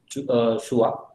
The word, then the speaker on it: Chua: Some people call it Chua also, but the correct pronunciation is Chua. So Leon Chua, or let's call just Chua, who have gave theory on memory stir almost in 1971.